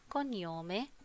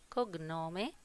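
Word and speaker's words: cognome: التيست بيبتدي معانا ببعض البيانات زي نومي نومي اللي هو الاسم، كونيومي كونيومي اللي هو اللقب، وبنلاحظ إن حرف الجي لو جه بعديه حرف الان ما بيتنطقش، عشان كده ما قلناش كوجنومي قلنا كونيومي.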